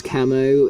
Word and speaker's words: Camo: either one really but the official one is camo um and that's proven by um chapter 13